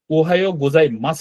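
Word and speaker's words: おはようございます: উচ্চারণটা একটু খেয়াল করবেন গোজাই এখানে মাসু লেখা আছে তাই না কিন্তু এখানে আমরা এই ইউটা সাইলেন্ট হবে হ্যা এটা উচ্চারণ করব না এটা কেন করব না এগুলার হচ্ছে পরে দেখব জাস্ট হচ্ছে মনে রাখেন যে ওহাই গোজাই মাস হবে হ্যা এই লাস্টের ইউটা হবে না ইউটা হবে না তারপরও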